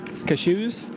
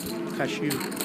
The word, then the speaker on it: cashew: you please tell me cashew cashew look at you like a sneeze I don't okay cashews